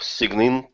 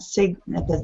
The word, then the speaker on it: sign: responsive responsive site siglap signum drive is all you might okay so sign up not cigna G is silent crazy English Simon Simon